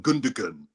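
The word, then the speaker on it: Gündoğan: Is it pronounced Gundogan rather than Gundogan? Was I pronouncing it correct?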